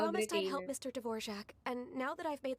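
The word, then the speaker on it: Dvořák: Hindi J sound. Parang Z. Dvorak.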